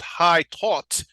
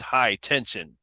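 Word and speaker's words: Haute Tension: defending today we're defending the French film called high taught that's how they say it in French but we say it high tension also known as switch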